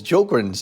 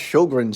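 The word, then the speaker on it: Sjögren: Sjogren's, pronounced Sjogren's syndrome, is an autoimmune inflammatory disease where white blood cells attack moisture-producing glands.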